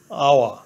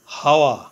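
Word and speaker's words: hour: waited for এন আওয়ার আওয়া অর্থ ঘন্টা এখানে আওয়া এর প্রথমে এইচ কনসোনেন্ট এইচ এর উচ্চারণ হয় বাংলা হ এর মত প্রথমে এইচ ধরে উচ্চারণ করলে হয় হাওয়া কিন্তু এইচ এর উচ্চারণ না হয়ে ভাওয়েল ও থেকে উচ্চারণ শুরু হয়েছে আওয়া এইচ এর উচ্চারণ অন উচ্চারিত থাকায় এবং ভাওয়েলের উচ্চারণ প্রথমে হওয়ায় আর্টিকেল এ না বসে অ্যান বসেছে হি ইজ অ্যান এ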